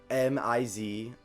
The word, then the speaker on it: Misriel: seen in forever, Jarl Misriel, the werewolf. How do you spell that? Jarl, so just like a classic Viking Jarl, so Jarl, and then Misriel, so Mizearal. Yep.